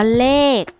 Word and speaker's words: เลข: เป็น ตัว สะกด ค่ะ คำ ว่า เลข ขอ ไข่ เป็น ตัว สะกด ค่ะ แต่ ออก เสียง เป็น ก็ ไก่ ค่ะ คำ ว่า วิหค